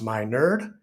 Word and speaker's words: Minerd: podcast my name is dr matt minerd pronounced my nerd and i am honored